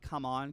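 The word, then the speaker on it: CMON: I think you're supposed to pronounce their company Come On, because it's C-M-O-N. So I think it's supposed to be Come On.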